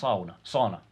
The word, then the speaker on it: sauna: to use oh yes sauna you pronounce it sauna burned out the same way you you own one and so so here's